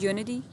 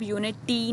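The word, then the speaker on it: unity: इसको आप यूनिटी नहीं बोलना, टी, इसको हम वैसे लिखते टी हैं, लेकिन जब आप प्रोनाउंस करने लगेंगे ना तो इसको डी की साउंड में, यूनिटी, ठीक है। एकदम प्रॉपर यूनिटी इस तरह भी नहीं कहना आपने, इसको एक फ्लो में पढ़ते हैं, यूनिटी इस तरह पढ़ना है, ठीक है।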